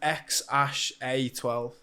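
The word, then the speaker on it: X Æ A-12: to pronounce yes so the AE is pronounced as like ash so it's X Ash a12 yeah it sounds like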